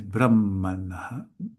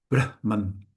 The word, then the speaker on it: Brahman: If we put the stress on the second syllable, that's a way to express the creator God, that aspect of Ishvara called the creator.